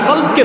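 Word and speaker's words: قلب: বাড়বে ইনশাল্লাহ নিশ্চিত সফল কাম সেই যে তার কলবকে পবিত্র করলো সুবহানাল্লাহ কি পবিত্র করলো না শব্দটা ভুল উচ্চারণ করেছেন আমরা অনেকেই শব্দটা ভুল উচ্চারণ করি শব্দটা কলব হবে না শব্দটা হবে কালব বড় কাফ দিয়ে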